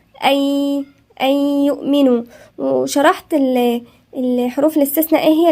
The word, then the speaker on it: أن يؤمنوا: أن يؤمنوا، النون الساكنة وبعدها الياء، والياء مش من الحروف الاستثناء يبقى هنغن فيها، والنون الساكنة لا تنطق. فاحنا بنعمل ايه؟ احنا بندغم النون بالياء، يعني بنقولها أي، لا تنطق أن يؤمنوا، لا، أي يؤمنوا.